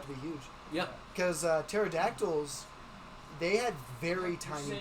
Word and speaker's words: pterodactyl: Because pterodactyls, they had very You're tiny saying it bodies wrong. Yeah. It's and huge wings. You're saying it wrong, Thomas. It's pterodactyl.